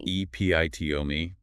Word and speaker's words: epitome: E P I T omi. Four syllables stress on the second.